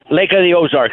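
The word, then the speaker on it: Lake of the Ozarks: ago delivering a speech up at the uh Lake of the ozar is that the way you pronounce it Lake of the ozar yeah yes so yeah I you know I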